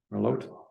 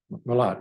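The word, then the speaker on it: Melotte 15: center I think is called Merlot 15 it's pronounced merot merot Merlot 15 I was reading up on that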